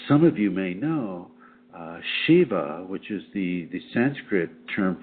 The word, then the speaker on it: Shiv: And as some of you may know, Shiva, which is the Sanskrit term for sacred male, is sometimes spelled S-I-V and pronounced Shiv.